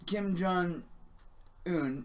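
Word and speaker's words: Kim Jong Un: yeah yeah oh and apparently kim jong hoon is uh is how you pronounce it yeah yeah I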